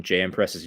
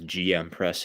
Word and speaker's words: JM press: Does Does natural hypertrophy pronouncing JM presses GM press annoy? I can't stand it. LaMau. Uh, yeah, it is a JM press. It's also named after a guy whose first name is JM.